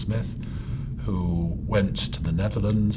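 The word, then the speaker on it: Smyth: hand there's John Smith sometimes called spy but the name was probably pronounced Smith who went to the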